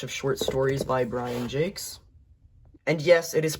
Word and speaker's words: Jacques: This is a collection of a bunch of short stories by Brian Jacques. And yes, it is pronounced Jacques.